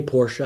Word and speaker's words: Porsche: building price it's a whole building price for Porsche should always say Porsche that's the proper pronunciation the price they cost I think I